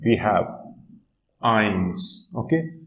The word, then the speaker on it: ein: So for 1 we have eins. Okay, so here S will be removed and I'll say ein.